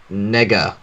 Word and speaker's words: Nega: Hard E, man. Hey. Darkwing Duck did it. Nega. It's hard E. Yes, that's what I said. As in negative.